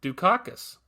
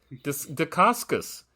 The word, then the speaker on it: Dacascos: I used to say Mark Dukakis, but that is not his name. Yeah. Dacascos. Yeah.